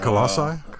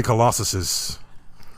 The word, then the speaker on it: Colossi: Colossi? Colossi. You can't say Colossuses.